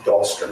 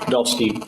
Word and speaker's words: Dahlstein: it, that morning, your partner officer was Max Dahlstrom, is that right? Dahlstein, yes. Dahlstein, excuse me. And, Your Honor, let me spell that for Cindy, may I?